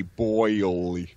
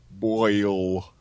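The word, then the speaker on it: Boyle: worked for Drew basically you have to spell it b o y l e boil boil what do you what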